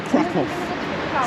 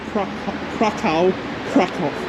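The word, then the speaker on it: Kraków: place like fractal and they probably crack off so that's another thing yeah so the cool crack off yeah even though spelling wise it ends with a W the colors anyways um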